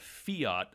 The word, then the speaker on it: fiat: on a currency called fiat money currency like the car like the car you pronounce it the same way and fiat money is